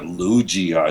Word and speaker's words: Lugia: Who said Lugia? It's Yeah, not Luigi.